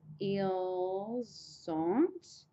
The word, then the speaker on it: ils ont: And then to say they have is ils ont. Again, the liaison will happen again.